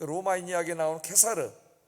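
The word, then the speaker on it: Caesar: 그 로마인 이야기 나오면 캐사르 뛰죠 영어로는 c조라고 읽는데이 캐사를 유명한 사람이잖아요 로마를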